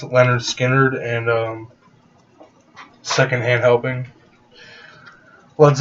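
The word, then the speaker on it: Lynyrd Skynyrd: might get the first um two albums it's pronounced leonard skinner and um secondhand helping leads up on four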